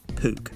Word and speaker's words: Puch: a bit last time it's pronounced puke like duke as an english royalty or the university except for the p it's now time to start the rebuild of the pook we can start by